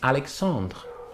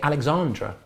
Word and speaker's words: Alexandre: your name pronounced wrong someone called me the other day alexandra well clearly i'm a man and i don't want to be called a female's name but maybe they could